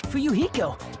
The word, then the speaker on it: Fuyuhiko: My first name is pronounced Fuyuhiko.